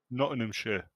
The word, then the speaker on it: Nottinghamshire: Nottinghamshire.